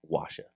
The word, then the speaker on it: OAXA: It is pronounced O A X A, but it is Washa is the pronunciation for that.